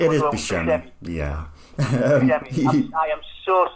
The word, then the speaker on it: Buscemi: Is that the pronunciation? It is Buscemi.